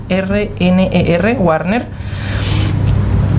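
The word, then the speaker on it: Guarner: Él tiene una página web, yo le invito a la gente a buscar al doctor Francisco Warner, se escribe con G-U-A-R-N-E-R, Warner, y que busquen microbioma humano, microbiota también que le llaman, ¿no?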